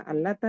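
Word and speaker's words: اللات: Sudah dibedakan dengan itu kemudian dibedakan lagi dari segi pengucapan huruf lamnya kalau di lafaz jalalah ditebalkan maka di di kata alata ditipiskan kenapa ditipiskan kenapa harus dibedain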